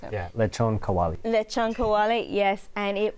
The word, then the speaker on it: lechon kawali: Let's get the expert over here to pronounce it. Yeah, lechon kawali.